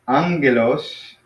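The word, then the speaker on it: ἄγγελος: So angelos. Yes, angelos. Yeah, angelos. Yeah, so it's like you almost kind of spell it like, or I'm sorry, pronounce it like that with an NG sound.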